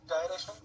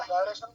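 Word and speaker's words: gyration: Next question आता है, radius of जायरेशन क्या होता है। अब कुछ लोग इसको जायरेशन बोलते हैं, कुछ लोग इसको गायरेशन बोलते हैं, दोनों ही मामला ठीक है। इसका करेक्ट प्रोनाउंसिएशन जायरेशन है, ठीक है।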